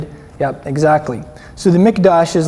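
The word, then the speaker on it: מקדש: Hebrew word for the sanctuary too it's a mikdash everybody say mikdash and you spell that m i k in English you spell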